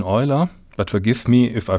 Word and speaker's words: Euler: Most people these days use the German pronunciation of his name, Euler, even though the Swiss pronunciation may be different from that.